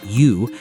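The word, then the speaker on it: 鱼: And the fish must be served whole, head and tail intact, because the word for fish, yu, sounds like the word for surplus.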